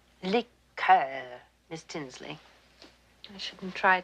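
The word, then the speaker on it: liqueur: I don't care for liquor when referring to a cordial we use the French pronunciation liquor miss Tinsley I shouldn't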